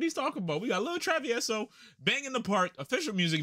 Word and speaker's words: Lil Travieso: I don't got to say my name because you already know it's Lil Travieso from Parks of Audio.